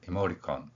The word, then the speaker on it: emoticon: 표기가 형성되는 것입니다 을 보면 이모티콘이 아니라 실제 생활에서는 모리콘 이렇게 발음이 된다는 것이지요 여러분들이이 발음을 해보면